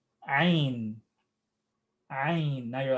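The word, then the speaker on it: ع: This is the letter Ain.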